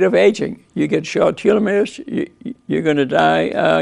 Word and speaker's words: telomere: is all about how so how does this pronounced telomeres I mean his spells are just like my